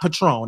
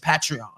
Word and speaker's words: Patreon: patrol mama is Paige is what is not patron this patreon yes you the correct pronunciation of words it may when it was